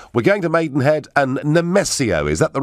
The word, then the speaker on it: Nemesio: Now, we're going to Maidenhead and Nemesio. Is that the right pronunciation?